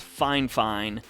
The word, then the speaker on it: Fifine: Though, now that I think about it, I believe Fifine is officially pronounced Fine.